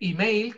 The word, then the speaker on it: email: Y además, se dice, para hacerlo más complicado todavía, se dice email con i, pero se escribe como lo estáis viendo aquí, email.